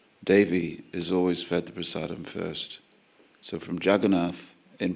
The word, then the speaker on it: prasadam: We always pronounce prasadam the way Prabhupada pronounced it, with the Bengali sh. In fact, every S we pronounce as sh. Nrsingadev, isn't it? Nrsingadev, prasadam. Okay. Whereas elsewhere in India, it's Narasimha or Narasimha or prasad.